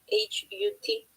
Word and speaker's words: Hut: It's not hot Hot, it's hot Hut.